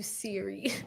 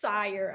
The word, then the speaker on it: Sire: I've been calling you Siri, and your name is pronounced Sire.